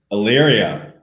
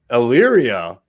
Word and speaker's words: Elyria: Elyria. Elyria.